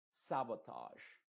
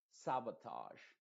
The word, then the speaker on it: sabotage: como una I modificada excepto estas dos palabras de acá por ejemplo acá va a sonar como garage garage y sabotage sabotage estas dos son una excepción a la regla que te acabo de